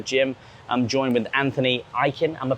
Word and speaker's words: Ikin: just outside the gym i'm joined with anthony eiken and we're pronouncing that correctly yes you are beautiful it's